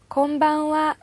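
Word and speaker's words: こんばんは: 또 까지요 조사 에요 그래서 하루 쓰지만 발음은 와 로 합니다 건방 이라는 말이 어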